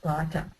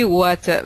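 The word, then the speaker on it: उवाच: you gave us Arjuna Vacha. Huh? No. Impossible. I mean, because Vacha is not a word, isn't it? It's just a hypothetical one. It should be Uvacha, which I didn't pronounce properly, maybe.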